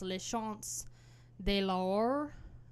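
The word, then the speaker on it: Les Chants de l'Aurore: I think it's pronounced Les Chants de l'Or.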